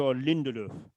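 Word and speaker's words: Lindelöf: So his name is Victor Lindelof Lindelof and and the the the O at the end has that sound because of the um the marks over the top of it.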